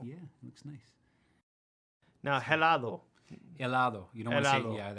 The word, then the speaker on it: helado: Now, helado. Helado. You don't want to Helado. say, yeah, that H is silent.